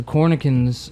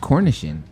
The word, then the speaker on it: cornichon: I think they're pronounced Cornichon. Cornichon. Cornichon. I know it's a C there.